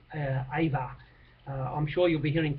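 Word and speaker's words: Auva: And one of their promising young kids, Avua, I pronounced it incorrectly, A-U-V-A, we'll call him, Ava.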